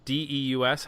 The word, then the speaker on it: Deus: Deus? How do you pronounce that? Anybody know? I think it's Deuce like Zeus, but with a D.